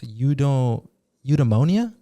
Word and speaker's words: eudaimonia: And in Greek it's called I might pronounce this incorrectly. It's eudaimonia.